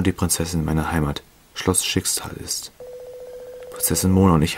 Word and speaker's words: Schicksal: Schicksal. Ne? So wird's ausgesprochen.